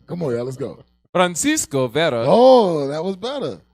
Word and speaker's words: Francisco: Francisco. Friend. You got to say it right. Francisco Not Vera. Francisco. Francisco. Right. That's a little bit. Francisco. There you go.